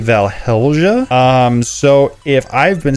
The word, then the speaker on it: Valhelsia: moment where I realize there's actually an L in there and I've been spelling it wrong the whole time and it's probably valhelja um so if I've